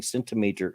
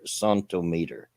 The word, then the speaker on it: centimeter: Wikipedia snippet says I had jury duty, and in this one case they kept pronouncing centimeter, centimeter. So they're pronouncing the C and T in the French manner, the cent.